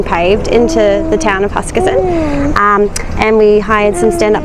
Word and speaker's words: Huskisson: Huskisson. But I feel like I have to say it like that. Huskisson.